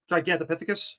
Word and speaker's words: Gigantopithecus: Gigantopithecus.